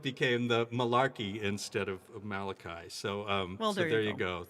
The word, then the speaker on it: Malachi: it said malachi and they pronounced it malaki instead of malachi and and then of